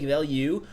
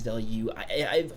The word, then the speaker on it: Veilleux: Now, this doesn't have a picture here, but Xavier Veilleux, I believe it is Veilleux. Correct me if I'm wrong. I'm pretty sure the announcer said Veilleux. I think this is for French pronunciation.